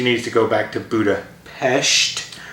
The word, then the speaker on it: Budapest: to go back to buddha pesht let's get the pronunciation right that's the thing in the movie the pronunciation of budapest not budapest which is honestly a